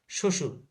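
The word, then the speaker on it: শ্বশুর: অর্থাৎ শব্দের প্রথমে যদি ব ফলা থাকে তাহলে তার উচ্চারণ কি হবে না? হবে না। তার উচ্চারণ হবে না।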